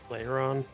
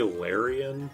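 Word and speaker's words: Lairon: a uh mean look how do you pronounce this thing's name Lon okay cuz I always say larion even though it's just a blatantly incorrect yo Larry but it's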